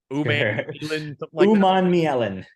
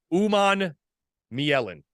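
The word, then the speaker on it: Umanmielen: You want to pronounce this? Uman Mielen. Uman Mielen.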